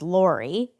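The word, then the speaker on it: Laray: Her name I happen to know is Lorie. Mhm. And it's spelled l a r a y, which is different for sure.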